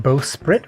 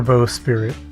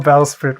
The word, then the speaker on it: bowsprit: Wait, bowsprit or bowspirit? Am I stupid? Did I spell it wrong when I searched it? No. A bow, like taking a bow and sprit. Oh, bow, it is sprit.